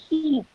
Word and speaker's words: sheep: It is not a ship that sails on in the sea, okay? It's a sheep.